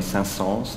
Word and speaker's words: Saint-Saëns: In France, we do pronounce the S. It's kind of funny. Saint-Saëns is what they say.